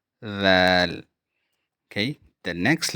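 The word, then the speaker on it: ذال: So your tongue should be between your teeth, and you should say dhal, dhal.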